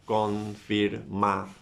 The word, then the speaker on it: confirmación: Then you have the word confirmación. Where is the stress? In ción, right? So confirmación, and you write the stress mark in ción.